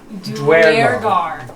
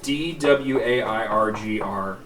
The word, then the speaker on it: Duergar: Duergar. Dwairgr is the phonetic spelling.